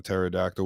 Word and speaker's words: pterodactyl: P at the beginning a pterodactyl with a p at the beginning some's going to be